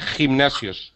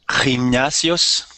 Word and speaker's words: gimnasios: a gimnasio pero gimnasios tienes que decir la g fuerte gimnasios gimnasios pero muy pocos leen